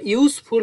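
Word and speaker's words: useful: Horse ঘোড়া ইজ আ ইউজফুল animal, তাহলে এখানে আমরা ইউজফুল বলতে প্রথমে ইউ এর মতো উচ্চারণ হচ্ছে, প্রথমে যদি ইউ এর মতো উচ্চারণ হয় তাহলে তার আগে এ হয়, তাহলে horse is আ ইউজফুল animal.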